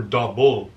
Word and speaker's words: Doppel: is it Doppel or double well in German is Doppel dppb yeah I mispronounced